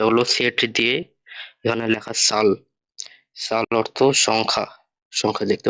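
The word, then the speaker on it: Zahl: তবে জার্মানিতে সেটের উচ্চারণটা ছয়ের মতো, বা ইংরেজি এস এর মতো, যার কারণে এটা জাল না হয়ে সাল হইতাছে। তো এই গেল আমাদের নর্মাল 26টা লেটার।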